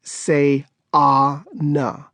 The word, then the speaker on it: Sayana: The middle child is Sayana, pronounced Say-ah-na.